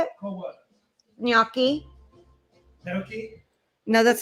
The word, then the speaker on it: gnocchi: You say it gnocchi. Gnocchi. Gnocchi. Because What the was GN in Italian is like gna.